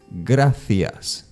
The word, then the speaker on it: gracias: this mistake okay it's graas C and I together are pronounced as th another word will be